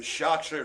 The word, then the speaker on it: Chartreux: The Chartreux, so C-H-A-R-T. So imagine, you know, phonetically it's chart and then Riux, and it's a black cat facing the camera, if you will, or facing forwards.